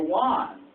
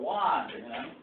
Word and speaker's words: Juan: When I say the word, some people say Juan, Juan, but in Spanish, the J, people don't agree that this is a J.